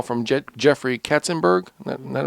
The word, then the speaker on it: Katzenberg: And you get a phone call from Jeffrey Katzenberg. Isn't that right? Am I saying it right? Katzenberg, yeah.